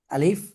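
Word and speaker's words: ألف: আচ্ছা, তাহলে আমরা এই যে হরফগুলো দেখতে পাচ্ছ এখানে, আলিফ কিভাবে উচ্চারণ হবে দেখতে পাচ্ছ? আলিফ জি।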